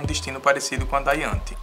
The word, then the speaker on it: Ianthe: E ela, eu acredito que é assim que se pronuncia, Ianthe.